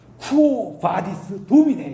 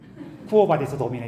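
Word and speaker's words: Quo vadis, Domine: 그런데 이게 그렇게 하시면 안 되고 표현이 쿠오바디스 도미네 이러셔야 돼. 쿠오바디스 도미네 이러면은 이제 한국식으로 이렇게 발음하는 거고.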